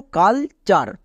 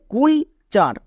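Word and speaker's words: culture: যেমন দেখো কালচার, একে অনেকে ভুল করে উচ্চারণ করে কুলচার। কেন? CUL কুল, TURE চার, কুলচার। বাট এর উচ্চারণ হবে কালচার।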